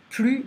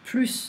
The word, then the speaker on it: plus: Plus de cadeaux. It's not like more gifts, it's like no more. Donc, we don't pronounce the S here.